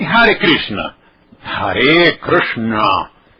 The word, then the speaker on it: Krishna: Mas e o R vogal? O R vogal é complicado. E o nome de Krishna tem 3 probleminhas aqui, olha, porque são 3 letras diferentes. Por isso é que as pessoas grafam e pronunciam Krishna. Se você disser Krishna já está muito bom.